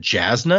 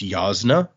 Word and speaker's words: Jasna: There's a person uh whose name is is I've always said Jasna because it begins with a J, but the J is actually supposed to make like a ya sound. So, it's a it's yasna.